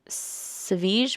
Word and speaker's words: Savjz: Okay, so his name is spelled Savjz, right? And I know that he is called Savige because that is what people have called him when he's been a guest on other people's podcasts and stuff.